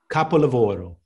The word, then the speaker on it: capolavoro: I tell her we have one goal, capolavoro. And capolavoro is the word for masterpiece in Italian. How do you say capovello? Capo, like the boss, the capo, like you've seen capo on The Sopranos.